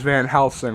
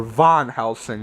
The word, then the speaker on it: Van Helsing: Anyway, so Van Sloan doesn't get a lot to do as Van Helsing, or Von Helsing as for some reason pronounced in this film.